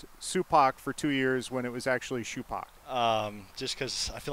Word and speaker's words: Supak: guess, and said, I think the name is Supak.